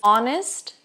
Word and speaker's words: honest: Sim, existem palavras em inglês que o H não vai ser pronunciado, como o caso de hour, hour, hora. Herb, herb. que é erva, mas também a gente pode falar herb, herb. As duas pronúncias são aceitas. Honest, honestra, de honesto, mas de resto, as